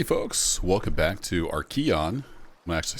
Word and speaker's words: Archean: daddy folks welcome back to our Keon I'm actually say that right now that I've learned what it's actually pronounced like I said it wrong the first